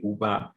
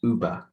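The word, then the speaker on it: über: so not like that not like the uber the taxis services but uber uber okay so just remember there to put your tongue in a resistant position and then just pronounce the word uber getting the correct pronunciation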